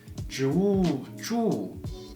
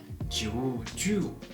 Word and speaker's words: 祝: The word 祝 is 祝, not 祝.